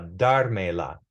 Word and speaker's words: dármela: Va a dármela. This accent mark has to be on the third to last syllable, because in Spanish, the